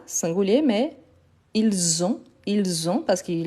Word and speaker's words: ils ont: Parce que le S, normalement, il n'est pas prononcé. Mais quand après, j'ai un mot qui commence par voyelle, donc on fait la liaison, donc il a le son de Z.